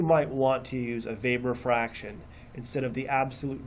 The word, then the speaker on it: Weber: a thousand Hertz and then you get your Vapor fraction I know what it's it's it looks like Weber but it's pronounced vapor and so that ratio will not